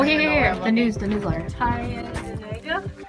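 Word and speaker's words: Tyendinaga: Karen, pronounce that cave. What's it called? Okay, oh, here. The news, the newsletter. Tyandinega.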